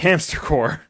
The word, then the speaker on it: Hamster Corp: So the P is always silent? The P is silent.